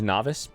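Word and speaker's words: Nauvis: The fun fact, the planet name in Factorio is Novice. At least in the code, that's what it's called. I like it. I especially like the idea that you pronounce it as novice, like novice players.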